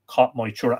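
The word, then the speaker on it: Cath Maige Tuired: But just don't forget Cat Moitura. And that is spelt, just in case you need the spelling, CatMaigeTuired.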